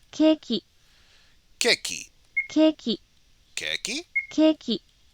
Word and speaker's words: ケーキ: Just listen to the pronunciation because you can still order it if you say it correctly. ケーキ、 Keki. ケーキ、 Keki? ケーキ、 Keki.